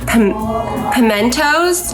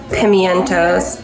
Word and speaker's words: pimientos: I have some really fun stuff to add to this, like pimentos. I say it like pimentos, but it might be pimientos. Pimentos.